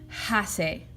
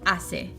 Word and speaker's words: hace: saying ha say and I'm not saying like hack a the C and the e next to each other that makes what's called a soft C and so it goes and the H is always silent in Spanish cuando hace mal tiempo